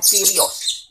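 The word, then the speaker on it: κύριος: itu berasal dari bahasa Inggris Lord bahasa yunaninya kyrios tulisannya Furious kita bacanya ciryo bahasa ibraninya adonai Oh ya adonai atau add-on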